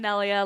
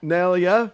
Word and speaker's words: Nelya: I'm Nelya. Nelya.